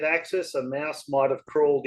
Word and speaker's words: AXYZ: which model Axis machine do you have? They for those who don't know, they spell it AXYZ, and it's pronounced It's a. Axis.